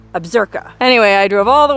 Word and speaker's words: Absaroka: how you pronounce that it looks like absaroka but I watched a bunch of YouTube videos and I'm pretty sure it's pronounced absurka anyway I drove all